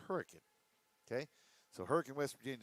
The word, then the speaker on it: Hurricane: Now, for those of y'all that don't know how to pronounce it because you look at it spell spelled like Hurricane, but it's Hurricane.